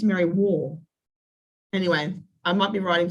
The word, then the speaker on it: Merriwa: And he pronounced it as Merriwar.